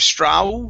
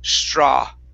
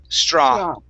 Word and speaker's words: straw: word straw right here instead of straw with an ooh at the end okay it's only an ah sound straw straw wrong all right very